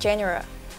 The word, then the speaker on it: genre: Yeah, yeah, I said genre because that's the British way of pronouncing it. It's G-E-N-R-E, genre.